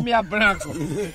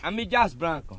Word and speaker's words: M. Dias Branco: Eu disse Mias Branco. Alô, Ivan Júnior, veja a pronúncia certa do grupo. Alô, seu Rafael. Veja a pronúncia certa do grupo M. Dias Branco, como é? M. Dias Branco.